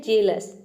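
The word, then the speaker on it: jealous: Next है जेलस। जेलस में भी देखिए हम EA को A प्रोनाउंस कर रहे हैं, तभी इसका प्रोनाउंसिएशन होता है जेलस।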